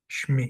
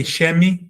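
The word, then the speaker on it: שמי: So the E in shin is very short, shmi, shmi. It doesn't say shemi, it doesn't say shami, it says shmi. I suppress the open vowel and I shorten it, shmi.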